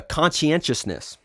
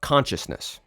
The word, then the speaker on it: conscientiousness: a c it's a conscientiousness and that's a tricky word it's spelled Conan Tios but it's conscientiousness and this is not con Consciousness it's a different word so there's conscientiousness and